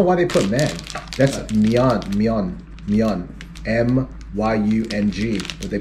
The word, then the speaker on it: myeon: This is myeon, but they put men.